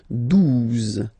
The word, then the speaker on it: douze: exist phonetically, onze, okay, douze, douze, O, U, the two together will give you the sound OU, okay, and then Z, douze, douze, alright.